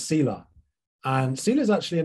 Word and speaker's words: Selah: And it's pronounced Selah, by the way. Selah? Selah, yeah. We've had like Selah weekend music festivals at church and stuff, but it's always Selah.